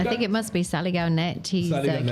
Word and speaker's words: Saligao: No, Saligaw Foxes? Saligaw Correct.